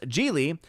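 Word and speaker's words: Gigli: Odin, it was pronounced Geely.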